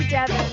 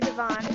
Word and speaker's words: Deon: my name's not professional am I saying your name right Devon or Deon well it is actually Deon okay you want to say Devon we pronounce names correctly on this program I could just call you this hi Chris and Devon Deon damn it oh it's not Devon okay so if I kep